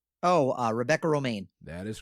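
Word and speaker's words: Romijn: to explain quote unquote it's like the lettuce it's oh uh rebecca romain that is correct on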